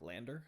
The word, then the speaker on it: LANDR: Again, try a free program like Lander. I'm not sure if you know Lander, but like, yeah, it's spelled like that, LANDR.